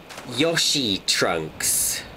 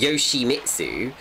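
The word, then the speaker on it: Yoshimitsu: sake Yoshi trunks well it's pronounced Yoshi mitsu so you are you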